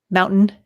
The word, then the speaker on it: mountain: Mountain is the official pronunciation of mountain if you were from Utah. Mountain. Mountain. Mountain. Yeah, there's no T's in the middle of words.